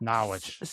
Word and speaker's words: Norwich: You mean Norwich? I'm Listen, this is the Eastern Connecticut/Rh Island/Boston accent. I don't know what to tell you. It's pronounced Nawitch. You know, it's like you just drop some syllables.